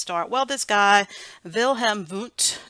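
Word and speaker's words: Wilhelm Wundt: start well this guy vill hem boot German guys so we're going to pronounce those with V's so our the very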